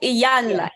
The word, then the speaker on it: Iyanla: Iyanla. Ebony and Iyanla. Yes. And someone I should put down it's pronounced ebony, as in ebony.